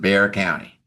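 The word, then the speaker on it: Bexar County: San Antonio in in Bear County. Now, it's B E X A R, but but they don't pronounce the X. It's just Bear County.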